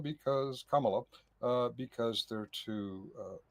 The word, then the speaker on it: Kamala: We can't have Camala because Kamala uh because they're too uh too Oh, yeah.